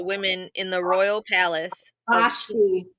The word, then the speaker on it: Vashti: Vashti. Vashti, yeah. Brother Stedman said it's Vashti. That's what I thought. So was I saying it right? Vashti.